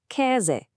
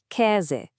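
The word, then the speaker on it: Käse: First up is e. It makes a sound kind of like the e in bet. Listen. Ke. That means cheese. Go on, repeat after me. E. Ke.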